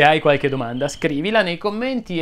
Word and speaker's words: commenti: Se ne hai di carine, suggeriscile qui sotto nei commenti. Potrebbero essere utili ad altri che hanno problemi di R. Commenti si pronuncia con la E chiusa, ma credo di averlo già detto.